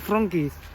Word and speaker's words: Wronki: Kayak kota gue deh, tulisannya kan Wronki, dibacanya Wronki. Karena W itu di sini bacanya V.